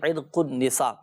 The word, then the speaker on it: عرق النساء: یہ پڑھ لیا کریں۔ عرق النساء صحیح تلفظ ہے عرق النساء، تو عرق النساء میں